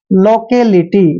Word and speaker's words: लोकेलिटी: Next word देखिए एल ओ का उच्चारण लो करते हैं ऐसे और सी ए को के पढ़ते हैं, लोके। और एल आई टी वाई को लीटी पढ़ना है, लोकेलिटी।